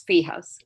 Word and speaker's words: sfiha: They're called fijas.